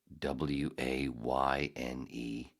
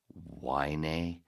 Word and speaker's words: Wayne: You can't even pronounce Wayne. You pronounce it Wynay?